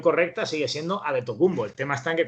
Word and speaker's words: Antetokounmpo: tocó un poco la mente pero realmente la pronunciación correcta sigue siendo a de tocumbo el tema está en que cuando se verá